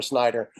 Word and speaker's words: Schneider: Yes, Snyder.